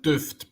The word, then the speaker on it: Duft: are we are saying that right it is duffed right yeah well we would pronounce it duffed but I don't think really matters that's that's